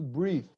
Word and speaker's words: breath: Observe the verb is to breathe. Breathe with final E. But breath, pronunciation, breath is a noun.